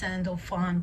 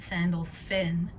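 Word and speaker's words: Sandalphon: archangel sandelphin with you it says sandalfon but he pronounces it sandal finn so they want you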